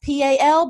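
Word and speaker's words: Powell: kind of like Mayberry it's called POW it's pronounced P al but it looks like powa al and Friday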